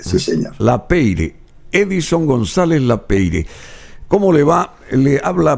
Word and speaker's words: Lapeyre: No, Lapeyre simplemente. A Lapeyre. Sí, efectivamente. Pero efectivamente. es de origen francés, ¿es verdad? Es verdad, correctamente, sí señor. Lapeyre, Edison González Lapeyre.